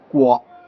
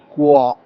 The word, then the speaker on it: 郭: 嗱，呢個字真正嘅發音係郭，個嘴係要向前少少，嘟向前，郭，或者你